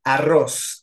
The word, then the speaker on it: arroz: ya participaste Pero cuéntame arroz arroz es aguda obviamente porque tiene la última eh sílaba como tónica entonces lleva tilde